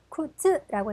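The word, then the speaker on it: 靴: 쿠츠라고 있는데 악센트 표시해 보실게요. 자, 쿠츠, 쿠츠입니다. 이번에는 휴일, 방학이라고 하는 단어죠. 야스미라고 읽고요.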